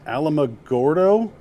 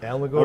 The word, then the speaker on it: Alamogordo: Alamogordo, There New it is. Mexico? Alamogordo, Okay, New Mexico.